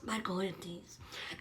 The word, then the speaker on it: Michaelides: Michaelides.